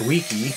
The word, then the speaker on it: W.1.K.i.: have a new project it's the W1 K1 I guess it's pronounced weaky switch right here uh it's